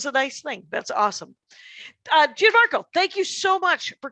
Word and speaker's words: Gianmarco: Gianmarco. It's not Gian. I want to Italian it.